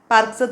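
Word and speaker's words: parked: रूप पार्क पार्क पार्क जरी इडी आला तरी तो सेपरेट म्हणायचा नाही पार्क म्हणायचं नाही पार्क एकत्र यायला उच्चार पार्क ओके द स्लाईड उच्चार त्याचा पण स्पेलिंग मात्र इडी वाला क्लिअर झालं लेट द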